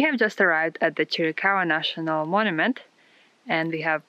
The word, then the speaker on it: Chiricahua: know how to say this one welcome to chiricahua national monument Jericho a national monument is located